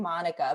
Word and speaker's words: Monica: at Monica the Teacher, which is spelled like we know the name Monica, but it's pronounced Monica, right?